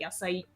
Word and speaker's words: YSIY: YSIY, but then pronounced like Yasai, like Okay. vegetables.